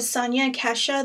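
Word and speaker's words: Sonia Kashuk: And I also use this, this is a Sonia Kesha, that's how you say her name, um, brush.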